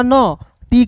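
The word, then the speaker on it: knot: एन ओ टी तो के को साइलेंट के के बाद एन है तो एन का न टी का ट है तो इसका उच्चारण औ के रूप में नॉट के एन ओ टी नॉट means होता है दोस्तों गांठ होता है।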